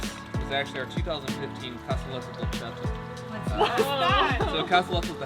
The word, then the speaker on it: Dolcetto: Dolcetto.